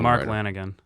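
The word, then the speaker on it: Mark Lanegan: saying he was my second favorite singer oh mark lanigan all right did i pronounce it right yeah you pronounced it perfectly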